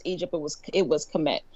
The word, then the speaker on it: Kemet: well the country well ancient egypt is actually pronounced commit however apparently you can't just start naming stuff